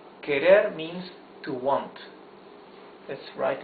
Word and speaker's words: querer: words you see that the r is the soft sound of the r because it's not at the beginning of the word and because it is